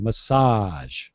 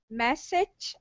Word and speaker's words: massage: you're sounding good yeah remember massage that sound at the end is the same as Visual and what was the